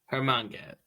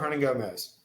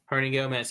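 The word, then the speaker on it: Hernangómez: Juancho Herminga. I can't pronounce his last name. Juancho Hernangomez. Hernangomez, yes.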